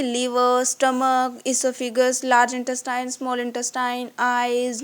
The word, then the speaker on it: oesophagus: इसोफिगस के spelling लिखने में ओइसोफिगस है, बट बोलने में इसे बोलते हैं इसोफिगस।